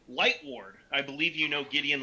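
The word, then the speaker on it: Lightward: know gideon uh light lightborne right chris yep uh no light light ward like mike ward light ward i believe you know gideon light ward um who has um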